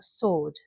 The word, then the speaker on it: sword: W, right, wrong, sword.